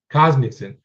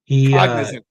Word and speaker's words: Cognizant: He for me, the win that he had at the Cosmic, I can't pronounce it, Cosmicson. Cognizant.